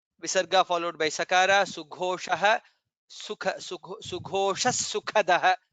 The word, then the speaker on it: सुखदः: Sughosha sukhadah. Kha is mahaprana.